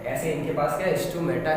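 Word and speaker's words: stomata: हाँ, ये जो ओपनिंग है इसको बोलते हैं स्टोमाटा। क्या बोलते हैं? स्टोमेटा। माटा वैसे ही प्रोनाउंसिएशन क्या है इसका? स्टोमेटा, ठीक है।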